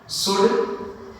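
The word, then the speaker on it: should: कि डी आ जाए, तो याद रखना है एल के साथ अगर डी आता है तो फिर हमें एल क्या करना है, इसमें भी साइलेंट रखनी है। जिस तरह से मान लिया हम लोग कर सकते हैं गुड, उसी तरह से वुड, उसी तरह से शुड।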